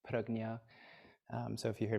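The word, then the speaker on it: prajñā: hear this term pregnia paramita most people say parajna by the way I learned in my Sanskrit class that it's technically supposed to be pronounced parognia um so if you hear me say that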